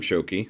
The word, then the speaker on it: Shoky: I am Shoky, in case everybody's wondering how that's pronounced.